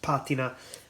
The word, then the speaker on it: patina: by the way is pronounced patina which is an Italian word look at the Horn